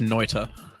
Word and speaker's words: Noita: No, man, it's pronounced Noita.